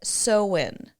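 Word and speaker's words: Samhain: and then this celebration it's a celt word and it's spelled s m ha a i n but you say it soen I know it doesn't you wouldn't think it that's what it would be doesn't sound like Halloween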